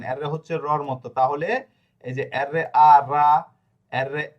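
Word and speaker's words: Roma: অ এম আ হচ্ছে আমরা বলি রোমা রোমা বলি না কিন্তু শব্দটা কি হবে? এর শব্দটা হবে রমা।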